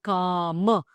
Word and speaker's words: kama: You can say kama, kama or kama. You have a variety of pronunciations. So here, the moment you put a long line on top there, it becomes a kama.